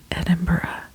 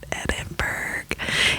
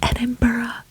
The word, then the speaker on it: Edinburgh: out in the open right now it is pronounced Edinburgh I've heard it's like nails on a chalkboard when you know pronunciation of like Edinburgh I can guarantee you it's not Edinburgh it's Edinburgh and I love it so you must go